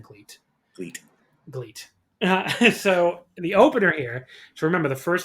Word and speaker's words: GLEAT: show and you're like they say great constantly i'm like yes they do that's what they're saying but you know it's spelled like gleet it's the most fun